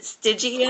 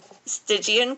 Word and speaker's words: Stygian: I've been practicing so is it stigan understood stigan Crown yes okay that's correct how is my audio